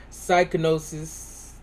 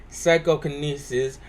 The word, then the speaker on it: psychokinesis: And I unlocked my cortex scan, my psychonosis. I hope I'm saying that. Psychokinesis. I know that I didn't say it right. Apologies. Psychokinesis, since I want to be a dummy and say psychonosis.